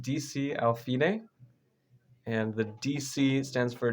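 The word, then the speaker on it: D.C. al fine: So this one is, well, you pronounce it DC al fine, and the DC stands for da capo, so more Italian.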